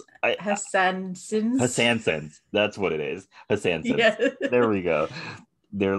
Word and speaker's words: Hassansins: I may have not even pronounced it right, because like there's an N in the middle and I don't think I pronounced that N. Yeah. It's a made up word. Hassansins. That's what it is. Hassansins.